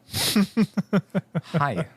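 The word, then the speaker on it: hej: Netherlands oh all right pronounced just like hi in English this is the simplest and most common way to greet someone in Danish all right hello hi hi sorry that I mean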